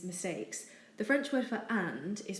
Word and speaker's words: est: the French word for and is pronounced a not at it's simply a the verb is such as he is and she is it does look like esthe but it's actually also pronounced a for example la tène